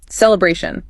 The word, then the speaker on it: celebration: That follows the delibration rule. Third syllable. Celebration. Feel that a sound lengthen a bit.